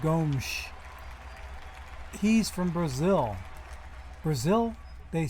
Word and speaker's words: Gomes: And you notice how I said Gomes. He's from Brazil. Brazil, they speak Portuguese. In Portuguese, and I learned this from following European soccer, the S is pronounced with a sh. So it's Gomes.